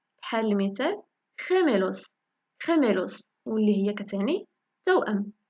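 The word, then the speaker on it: gemelos: مع اي واي كتنطق خي خي مع اي كتنطق خ بحال المثال خيميلوس خيميلوس واللي هي كتعني توام خميلوس عاودوها مرايا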